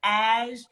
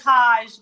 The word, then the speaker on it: HaJ: know me i am ash my name is spelled h.a.j so it looks like hajj but it's ash um that's right h is silent if you ever call